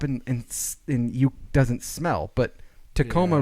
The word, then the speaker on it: Tacoma: But Tacoma Yeah. rhymes with aroma, and there's a reason, and it's because it has an aroma Tacoma and rhymes it with aroma.